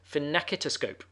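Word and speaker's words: phenakistiscope: invented the fin napkin he pronounces finicky to scope all new disco luda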